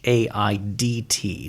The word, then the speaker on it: Haidt: Is that Haidt? Yeah. I don't know how to pronounce it. It's Haidt.